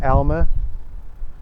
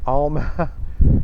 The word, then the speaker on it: Alma: It is in fact Elma and not Alma.